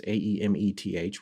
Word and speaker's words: Aemeth: So there's this one called the Sigillum Ameth. And I'm not sure I'm saying that right. It's Aemeth.